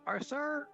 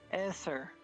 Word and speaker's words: Essor: I'm gonna say his name wrong. Is it Arsar or is that Esser. say it right? Professor Esser. Esser.